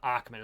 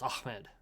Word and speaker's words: Ahmed: And I know a lot of people go Ahmed. It's not Ahmed, it's Ahmed. The inflection is different.